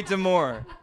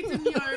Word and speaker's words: demure: That's very demure. Very demure, very classy, very respectful.